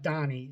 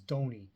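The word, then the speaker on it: Donie: got named dony Bush it's not Donnie it's dony uh you look at the baseball reference the nicknames and bio it says spells out phonetically dony I have two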